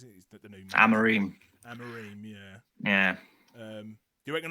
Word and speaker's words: Amorim: I can't pronounce his name. Amora or something, is it? Is that the new... Amorim, yeah.